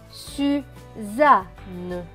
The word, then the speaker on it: Suzanne: Plus loin, S majuscule avec U, cela donne su. Z et A, za. Deux N qui se prononcent N et E, N et E, ne. Donc, ce mot va se prononcer su, za, ne.